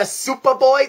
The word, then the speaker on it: SupaBoy: Once again, guys, if you want to get a SupaBoy, that's actually how it's spelled, S-U-P-A-B-O-Y.